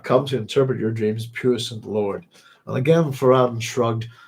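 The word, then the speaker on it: puissant: it really hard to say that word um puent there we go I got it right there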